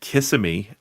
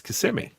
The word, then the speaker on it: Kissimmee: Around in Orlando, everybody calls it Kissimmee, but if you actually live here, it's Kissimmee.